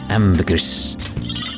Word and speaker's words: ambergris: what did you get ambergris ambergris and more ambergris it's pronounced ambergri by the way must